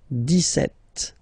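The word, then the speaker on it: dix-sept: okay so it's clear but then for the pronunciation deset okay so you don't insist on the deset deset deset okay then so you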